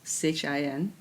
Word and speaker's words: Qin: So, my name is Qin, spells Qin, but pronounced Chin.